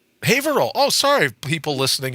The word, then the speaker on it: Haverhill: Ville you go no just drop the H you'd say Advil all